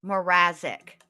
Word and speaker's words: Mrazek: Mrazek. There we go. That's how you say it.